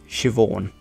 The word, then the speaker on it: Siobhan: us okay so this is how you actually pronounce them Neve Siobhan Naomi and uh this one Issa now where